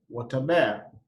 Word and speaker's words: Wot aber: In Luo, you say Wataber.